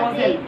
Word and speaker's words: Loisel: Loisel was लॉसेल, I silent रहेगा, लॉसेल।